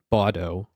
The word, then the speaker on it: Baudot: It uses the Baudot code. Oh, Baudot. Okay, so the T is silent. Baudot, which is where the term baud comes from.